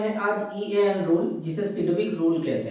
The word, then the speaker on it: Sidgwick: rule या इसी को सिड रूल भी कहते क्या कहते सिविक जी साइलेंट होता है रूल कते है अब